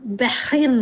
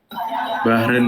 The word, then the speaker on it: Bahrain: Muhammad Abral, Bahrin. Ini Bahrin bacanya Abral? Miss. Bahrin atau Bakren? Bahrain gitu. Oh, Bahrain gitu ya.